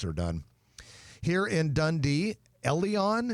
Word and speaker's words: Elleon: Here in Dundee, Elleon, it's spelled E-L-L-E-O-N, an upscale wine and cocktail lounge